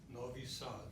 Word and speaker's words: Novi Sad: And how do you pronounce that? Novi Sad.